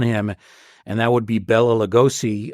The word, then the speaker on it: Bela Lugosi: and that would be Bela Lugosi. I always mistakenly call him Bela. It should be Bela. That is the correct pronunciation.